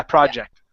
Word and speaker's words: project: his new project okay give me a j sound okay the first time around you said it yeah project there you go good okay